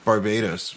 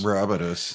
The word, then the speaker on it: Barbados: I have a Facebook friend or acquaintance or whatever that like lives in Barbados or Barbados. And Barbados. Barbados. That's how they pronounce it, actually.